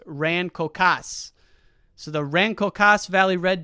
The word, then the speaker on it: Rancocas: jersey and i'm now reading that raincoast is pronounced rancocas so the rancocast valley red devils good luck